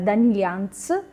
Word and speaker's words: Daniliyants: Parliamo di Tatiana Danilians, ok? Corretto la pronuncia?